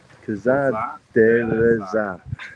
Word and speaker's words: Kazar Dereza: How do you pronounce Kazar? Kazar Dereza. It's like an emphasis on the last one.